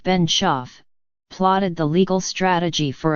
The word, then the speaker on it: Benshoof: center dot M s been Chief pronounced been chef plotted the legal strategy